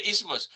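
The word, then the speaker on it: isthmus: Oh, the ismas. Oh, they're talking about the thyroid gland. For the ismas. Yeah, let's do it. Uh, I don't know if I have it here with the ismas.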